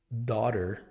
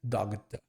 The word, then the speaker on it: daughter: E é muito comum tentar colocar esse som de G meio dela, uma coisa tipo dogta, mas ele simplesmente simplesmente não tem som.